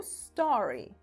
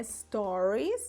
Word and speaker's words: stories: com outro sentido tá Primeiro vamos falar da pronúncia né porque o osso um monte de gente falando aí do referente aos Stories do Instagram falando estranho estranho né na verdade do Instagram é o Store olha repete aí ó a story inclusive o plural é Store assim né o plural ou